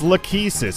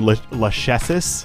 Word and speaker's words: Lachesis: pronounce that because I have a hard time pronouncing her name it's it's lucky sis it's a it's an actual Greek name um